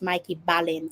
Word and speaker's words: Mikey Ballin: Okay, it's pronounced Mikey Ballin.